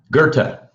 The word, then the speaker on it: Goethe: correct music go team what how do you pronounce his name goat oh you're muted Gerta Thank You Gerta okay well I've learned a